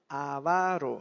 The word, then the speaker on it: avaro: mesa con El avaro no se dice avaro eh avaro no hay ningún acento allí avaro no avaro no